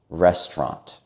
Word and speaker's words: restaurant: In American English, people tend to pronounce it as 2 syllables, restaurant.